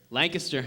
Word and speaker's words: Lancaster: Lancaster, yep.